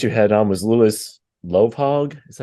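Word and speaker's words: Lovhaug: Another guest you had on was Louis Lovehog.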